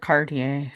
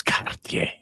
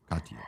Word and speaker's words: Cartier: Here's here's the cardier. If you guys want a diver that's not all angled. You guys got to start saying it right. It's Kartier. Cartier.